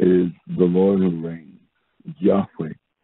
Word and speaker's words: Yahweh: And so the scripture tells us, it is the Lord who reigns, Yahweh, sometimes pronounced Jehovah.